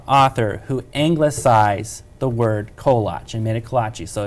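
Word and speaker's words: koláč: So the singular, true Czech, the singular is kolach. Plural would be kolachki, correct? kolache. Kolache. And it's actually Willa Cather, our Nebraska author, who anglicized the word kolach and made it kolachi.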